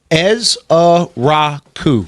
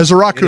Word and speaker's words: Ezeiruaku: Ezrau. It's easy to say. Donovan Ezra. Ezrau. That is how you say his last name because get used to it.